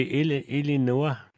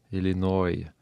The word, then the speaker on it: Illinois: Illinois. Oui. Mais c'est parce qu'Illinois, c'est en anglais. En tout cas, ils essaient de prononcer ça en anglais, mais c'est Illinois.